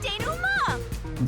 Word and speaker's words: denouement: Time for the deduction denouement! Denouement. Okay, that's how it's pronounced.